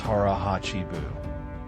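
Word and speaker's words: hara hachi bu: Harah Hachi Buu pronounced Harahachi Buu.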